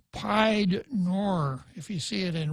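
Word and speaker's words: pied-noir: It looks like pied noir, if you see it in writing, Piednoir.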